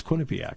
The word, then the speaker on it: Quinnipiac: Well, now, I've always pronounced it Quinnipiac. Right, it's Quinnipiac.